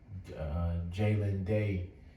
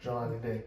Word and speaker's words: Jelani Day: Then I also read the article that what's his name, Jalen Day, his body was found. Jelani. Okay, I do apologize for that. I believe so, but I'm pretty sure it's pronounced Jelani Day.